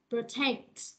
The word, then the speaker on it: protect: Protect, protect, protect, protect, protect nhâm hai mà. Còn nhâm một là protect đúng không? Còn nhâm hai là protect, protect.